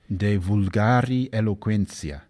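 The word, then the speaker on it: De vulgari eloquentia: alighieri wrote in latin de ulgari eloquentia or as he might have pronounced it de vulgari eloquencia in which he discussed using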